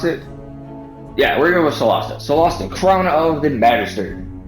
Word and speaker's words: Solasta: I think it's how you pronounce it. Yeah, we're going with Solasta.